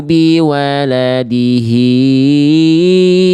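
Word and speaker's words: بِوَلَدِهِ: Hnya betul dua harakat. Kalau tadi Bunda bacanya ee lebih dari dua harakat. Tadi Bunda baca gini. Wala mauludul lahu biwaladihi waa. Hya dua harakat aja. Mad silah qasirah namanya ya.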